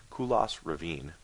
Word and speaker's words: Kulas Ravine: That's how it's pronounced. Kulas Ravine.